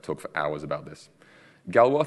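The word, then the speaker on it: Galois: for hours about this Galway Theory not galloweeze as some people like to pronounce it talks about okay how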